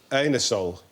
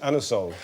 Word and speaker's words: Anusol: You can't ask for um Anusol in that way in in a shop. You have to pronounce it Anosol.